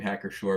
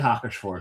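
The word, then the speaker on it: Hacker-Pschorr: I was going to say before Hacker Shore, and I love the name Hacker Shore because the second name, not Hacker, but Shore. Because the P is silent.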